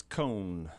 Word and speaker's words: Kohne: completely blank on it it's cone cone but it's spelled with a K correct yeah cone like ice cream cone oh yeah like Leonard